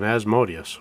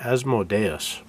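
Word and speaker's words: Asmodeus: They had an episode on Asmodius, which he pronounced as Modus. Maybe I've just been pronouncing it wrong for the last 40 years.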